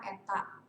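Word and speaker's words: η: saya toge ini nih dibacanya adalah Eta Eta ini Eta Hai peta-peta itu adalah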